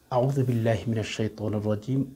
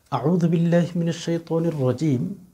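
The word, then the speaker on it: أعوذ بالله من الشيطان الرجيم: তো যাই হোক, সম্মানিত দিনী ভাই বোন, আপনি যদি মুসলমান দাবি করেন, ইমানদার দাবি করেন, আউযু বিল্লাহি মিনাশ শাইতানির রাজিম অবশ্যই জানেন।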